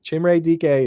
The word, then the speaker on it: Chimere: But with the Titans here, they elevated Chimere DK, which I've said it. I've been told that's how you say it. I checked with Bob Harrison. That's Chimere DK is my understanding, but it still doesn't necessarily.